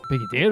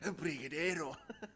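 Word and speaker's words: brigadeiro: Brigade. Why did I say it like that? Brigadeo.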